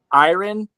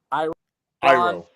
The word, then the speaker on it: Iroh: I say it wrong, but he's Uncle Iron. Iro. Sorry. I have a it's Iro. IROH.